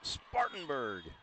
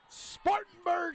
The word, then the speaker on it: Spartanburg: you gotta see you gotta say it right Spartanburg Spartanburg South Carolina see there you go and and